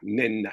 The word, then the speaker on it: Nnena: Na. Is that the pronunciation?